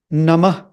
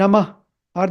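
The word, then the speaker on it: नमः: U and the last part in this is nam nam nam nam now many people I've seen this many people don't pronounce this part properly and it's common to all mantras in fact om and namah are there in all the mantras the way usually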